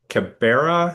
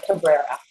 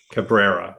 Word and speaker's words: Cabrera: sur rebuttal of uh Cabera. Am I pronouncing that correctly? Uh Cabrera. Cabrera. Okay. Missed this the first R.